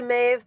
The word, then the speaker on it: Maeve: It is so it is one of those things where it anglicizes to Maeve, but it is generally pronounced Mab.